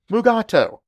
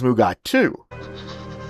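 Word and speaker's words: Mugato: scripts of this episode however DeForest Kelly could not pronounce the name correctly so they changed it to mugat but unfortunately during the entire filming both Shatner and Kelly pronounced the name as mugatu mugatu attacked him mugatu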